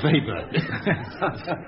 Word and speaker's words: Weber: It's by V-A-Y-B-A. That's right, Weber. Otherwise known as Weber. V-A-B-E-R.